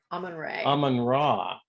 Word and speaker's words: Amun-Re: Amun-Ra. Amun-Ra. Because we found out that the RE is pronounced as Ra in this culture.